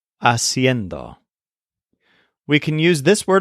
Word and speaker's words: haciendo: let's learn the gerund this is a pretty tricky word haciendo it's kind of like siendo but with an extra syllable haciendo we can use this